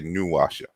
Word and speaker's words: Nwasha: You say Nwasha or you say Nwasha?